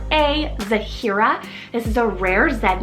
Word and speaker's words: Zahira: h i r a zahira this is a rare Zed name but definitely um really pretty because you have like the three syllables a little bit longer um just really beautiful